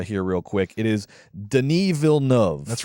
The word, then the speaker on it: Denis Villeneuve: our French uh here real quick it is Deni VN that's right Den VNV is how you pronounce the den VN is how you pronounce